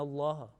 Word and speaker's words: Allah: Like, for example, the word inna Allah, because there is certain rule about that one, and this lam mushaddad will be always will be pronounced with the thick sound.